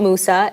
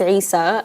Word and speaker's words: Isa: wrong by the way his name is not Musa it's Isa um Isa is really he's